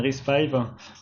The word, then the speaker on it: RISC-V: Donc déjà, ça se prononce bien RISC-V. Le 5, c'est le numéro de version, et RISC, ça vient de Reduced Instruction Set Computer.